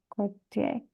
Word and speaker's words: quartier: Hier soir, après avoir fini mes devoirs, je suis sortie me promener dans le quartier. Alors, how would you pronounce With that? With a K sound, Quartier.